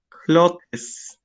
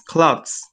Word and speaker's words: clothes: You say clothes. It's clothes, okay?